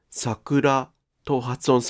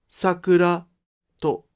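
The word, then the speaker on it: 桜: In Tokyo, it is pronounced "Sakura (LHH)," but in Kyoto and Osaka, it is pronounced "Sakura (HHH)." In this case, the degrees of the pitch of the first and second moras are both high.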